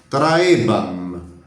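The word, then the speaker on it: trahebam: Não deve ser pronunciado, né? Traebam.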